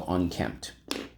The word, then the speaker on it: unkempt: a mess it's all unkempt all right so on kempt uh the unkempt puppy was in need of a bath he